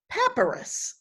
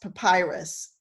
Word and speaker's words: papyrus: things he said and i also may say paparaz when the word should be pronounced papyrus um and i'm sure